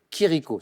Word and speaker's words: Chirico: dite métaphysique giorgio de chirico ça s'écrit chirico ch lire ici ou italiens qui rico exactement de quelle canards sauvages